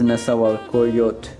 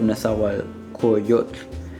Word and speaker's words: Nezahualcóyotl: And this is actually misspelled because I did not include the L syllable at the end, or the L sound. It says Nezahualcóyotl instead of Nezahualcóyotl.